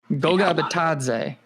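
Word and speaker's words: Goga Bitadze: How do you pronounce the guy the Patriots got? Goga Batadze.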